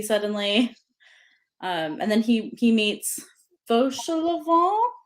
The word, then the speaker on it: Fauchelevent: And then he meets Fauchelevent is how I'm gonna say his name, I I think. think that's how the audiobook said it too. Fauchelevent, I think. Fauchelevent.